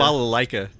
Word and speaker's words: balalaika: Zhivago, but I don't know how to pronounce it. I don't want to do it wrong. Oh, yeah. This isn't The Russia. balalaika.